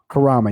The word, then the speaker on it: Kurama: Kurama, yes. Sounds like Kuruma. Kuruma is a car in Japanese.